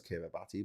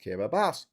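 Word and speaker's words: Kiribati: Now, I know what you're thinking. What Graeme, that says Kiraabati? Yes, I know it says Kiraabati, but it's pronounced Kira Bass. That makes no sense, you say.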